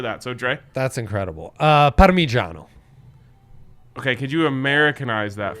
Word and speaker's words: Parmigiano: Parmigiano. okay, could you Americanize that for us a little bit? Not with the O on the end. Parmigiano.